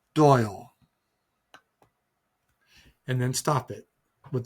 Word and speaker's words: Doyle: and then oil Michael Doyle then three phonetically. So, how about cycle for Michael and Royal for Doyle?